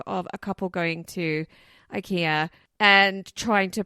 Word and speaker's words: IKEA: I've been corrected and been told it's ikia for Swedish people sure for SW it is a Swedish brand so I think it is the actual pronunciation but also there's a